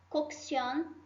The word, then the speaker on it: cocción: Como o som não é o mesmo, eu tenho um som para um C e tenho um som para o outro C. Vamos ver então. Cocción, mira cá.